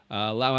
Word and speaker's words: Lao: The country's Laos, and then if you talk about the people, it's Lao. It's like when I first came to Thailand, I dated a Lao girl.